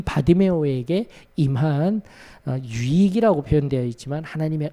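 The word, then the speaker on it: 바디매오: 근데 그게 바로 바디메오예요. 바디메오가 아니라 바디메오입니다. 바디메오. 바가 이제 아람어로 아들이라는 뜻이에요. 디메오의 아들, 바디메오라고 읽어야 되는 거예요.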